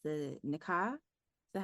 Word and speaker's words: Nikah: And talking about extremes, I'm thinking of the story, I believe it's the Nikah. Is that how you pronounce it?